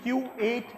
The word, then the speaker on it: Q8: you can see it's Q8 exactly for that right this is Kuwait petroleum company their brand is called Q8 it just so happened that it's phonetically the same but also because originally